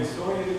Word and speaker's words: Issoire: Escreve Issoire, mas a pronúncia em francês é Issoire, como se fosse o aéreo.